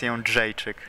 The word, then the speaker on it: Jędrzejczyk: Can you give us the pronunciation of UFC strawweight champion? Joanna Jędrzejczyk. It's Jędrzejczyk. Jędrzejczyk.